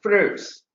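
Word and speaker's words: Freund: The adjuvants were discovered by a scientist called as Freud's. N is silent. He's a French scientist. Therefore, it is called as Freud's.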